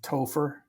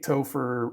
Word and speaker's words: Topher: names of 1978 was Topher Topher Topher yes how do you spell that t-o-p-h-e-r like gopher with a t oh my gosh David